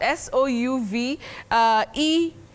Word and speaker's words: souvenir: S-O-U-V-E-N-I-R. How do we pronounce that, Willice? Oh, Betty, that word is from French. Yes. And you say souvenir.